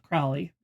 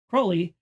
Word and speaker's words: Crowley: So this song is actually about occultist Aleister Crowley, not Crowley. In the song it's Crowley, but his actual name is pronounced Crowley.